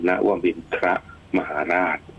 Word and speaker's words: นวมินทรมหาราช: จริง ๆ แล้ว เนี่ย ถ้า ออก เสียง ให้ ถูก ต้อง เลย ตาม ที่ กำหนด เอา ไว้ เนี่ย ให้ อ่าน ตัว ธร เป็น ครบ คล้ำ ก็ คือ นวมินท มหาราช นะ ครับ ค่ะ อัน นี้ ถือ